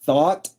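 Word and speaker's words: Thoth: I go by Atlantic Thought on Twitter. Uh yes, thought like the thoughts in your head is the way you pronounce the word thought.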